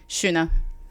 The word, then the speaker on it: Xuna: me Shuna. Yeah. Okay. Okay, but it's more of a shu.